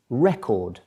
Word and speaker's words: record: you change the emphasis when you put the emphasis rather on the first syllable the word is record okay and a record